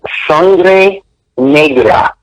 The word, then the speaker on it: Sangre Negra: blood to the title it's pronounced sangre negra sangre negra and in spanish it means black blood the main character is